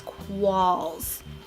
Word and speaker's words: Qualls: All my handles are Qualls Cosplay. My last name is pronounced Qualls, It's Qualls. There's no I, there's no R, there's no W. I've heard everything, so it's quals.